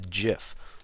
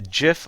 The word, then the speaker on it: GIF: a new graphics format and that's called the GIF a lot of people like to call it gif but the official pronunciation is GIF I personally might call it